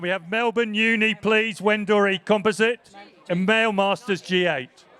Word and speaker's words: Wendouree: And I'm being corrected on my pronunciation here. Wendouree, of course it is.